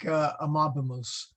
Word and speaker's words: amabimus: You want to hit that second, that second vowel. And again, the rule is if let's take amabimus. Never on the last. Latin does not put the stress on the last syllable anywhere. Okay. What you do is you jump to the vowel in front.